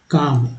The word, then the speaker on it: calm: अब देखिए CALM, काम, एल जो है यहाँ साइलेंट है, WALK, ठीक है, यहाँ एल जो है साइलेंट है, वॉक, ठीक है, वॉक।